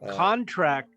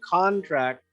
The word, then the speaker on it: contract: oh yeah like a contract we can have a word that's a noun contract but contract if the accent's on the second syllable it becomes a verb there's a whole bunch